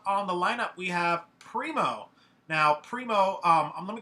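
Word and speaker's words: Primeaux: stuff all right well i'm primo on facebook it's spelled p-r-i-m-e-a-u-x is really easy to say but it's hard to spell that's my actual name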